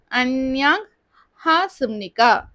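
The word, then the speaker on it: 안녕하십니까: Okay, இந்த எக்ஸ்பிரஷன்ல ஒரு sound rule changing இருக்கு. அது என்னன்னு பார்க்கலாம். சிக்கு கீழே பா இருக்கு. பட் நம்ம ப்ரொனவுன்ஸ் பண்ணும்போது என்னன்னு ப்ரொனவுன்ஸ் பண்றோம்னா அன்யாங் ஹா சிம்னிகான்னு சொல்றோம். அது ஏன்னு பார்த்தீங்கன்னா இந்த ப வந்து நாவை ஃபாலோ பண்ணி வரும்போது அதோட சவுண்ட் பார்த்தீங்கன்னா மான் சேஞ்ச் ஆயிடும். அதனால நம்ம ப்ரொனவுன்ஸ் பண்ணும்போது அன்யாங் ஹா சிம்னிகான்னு சொல்றோம்.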